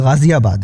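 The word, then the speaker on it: ग़ाज़ियाबाद: मैंने इसलिए लिया कि इस शहर के नाम का उच्चारण भी लोग बहुत ही गलत करते हैं तो व यह गाजियाबाद है एक और है गौरी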